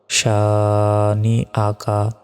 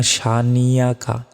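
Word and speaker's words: شَانِئَكَ: আ calf জবর কা শানি আকা ইন্নাশানি আকা আমরা অনেকে বলি ইন্না সানিয়াকা দেখুন নিয়াকা কিন্তু নাই নিয়াকা বলা যাবে না তবে শানি আকা আকা শানি আকা হা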